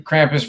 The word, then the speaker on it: Krampus: On December 5th, the streets of Austria, Bavaria, South Tyro, Slovenia, and Czecha, filigum Krampuses, horned anti-santaas who, according to legend, punish misbehaving children. The Krampus run is loud, eerie, and incredibly atmospheric.